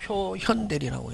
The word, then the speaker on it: 표현대리: 바깥표 요건 볼견 나타날 현 그래서 요걸 표견대리라고도 읽었다 옛날에 근데 요즘은 뭐 표현대리라고 읽는다 예?